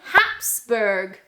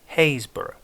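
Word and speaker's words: Happisburgh: Haysborough. Haysborough. Haysborough. Haysborough. So we're going to pretend that those P's... No. There's no P. There's no P in that word. It's Haysborough.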